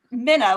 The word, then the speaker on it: Mina: It's Mina, like Minnesota, right?